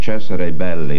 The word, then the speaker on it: Cesare Belli: Cesare Belli, that's the way it should be pronounced.